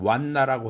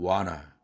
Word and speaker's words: wanna: 그래서 완나라고 하지 않고 와나 이렇게 발음하는 것이죠.